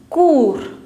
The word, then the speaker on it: cours: Cours. S being the last consonant, you will not pronounce it.